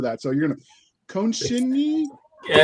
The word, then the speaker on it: Konecni: Yeah, it's Konecni, actually. Konecni. I would have never gotten that, but can you introduce yourself and tell us how to pronounce it? Yeah, it's like connecting the knee, Konecni.